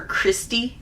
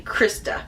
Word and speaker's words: Krista: And the female, I think I called her Christy for like ever. And it's actually Krista.